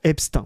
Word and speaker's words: Epstein: D'origine allemande, le nom Epstein se prononce Epstein en allemand mais Epstein en anglais. Voilà. Le financier né aux États-Unis de nationalité américaine en français, il devrait en théorie se prononcer formellement abstin.